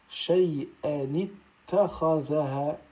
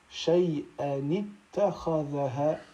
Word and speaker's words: shay'an ittakhadhaha: On ajoutera une kasra au tanwin, tel que l'on prononcera, donc ici, shay'an, et ensuite, ittakhadhaha. Pour faire la liaison entre ces deux mots, on dira shay'an ittakhadhaha, shay'an ittakhadhaha, comme c'est écrit donc à droite.